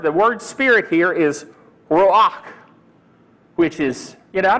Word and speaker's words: ruach: I used to think it was Roush. That's the way I used to pronounce it. But I did a little study and found out it's ruach. Anyway, it's got that guttural sound.